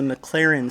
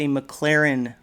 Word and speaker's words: Maclaren: Well, this is not a Corvette, this is a Maclaren Bible. It's not actually spelled like the McLaren car, but it sounds very similar, and I thought that was a nice correlation.